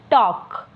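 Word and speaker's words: talk: तरह नीचे जाएं तो टी ए एल के एल लिखने में है लेकिन पढ़ने में नहीं होगा सो इसको हम पढ़ेंगे टॉक इसी तरह आगे जाए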